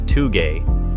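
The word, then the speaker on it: 峠: The easy way to remember is by breaking down the word into two, pronouncing it as two-gay, or, if you want to be blunt, two-gay.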